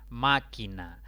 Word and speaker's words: Máquina: Máquina. Máquina es una palabra de 3 sílabas. La mayor intensidad recae en la antepenúltima sílaba. Por lo tanto, debe atildarse. Romántico.